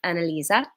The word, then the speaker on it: Annalise: Oh, is Annalise Dutch or where does it come from? You hear it in South Africa a fair bit. Really? That's amazing. Yes, Annalise is German, actually pronounced Annalisa, but I was named